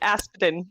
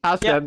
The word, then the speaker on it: Aspden: I was like, the P and the D together just really throw me off. So how do I pronounce it? Just you said it exactly right. It's Aspden. Aspden.